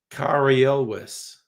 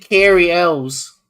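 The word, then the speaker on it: Cary Elwes: farm boy is played by How do you pronounce his name? Carrie Elwis. Oh Okay, I was way off. I said Carrie El's.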